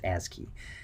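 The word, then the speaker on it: ASCII: So if you ever see that acronym, it's pronounced ASI key.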